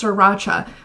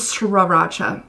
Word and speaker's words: Sriracha: I'm 25 years old and I just had Sriracha for the first time, like Sriracha sauce. And some of you might be thinking that I'm saying it wrong, that it's Sriracha, but it is Sriracha.